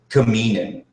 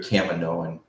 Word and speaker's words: Kaminoan: i first heard Kaminoan because i used to pronounce it kamini but we actually hear a Kaminoan and that's actually pretty cool so as we